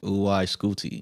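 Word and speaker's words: UY SCUTI: Pronounce the name. Oo. Scooty.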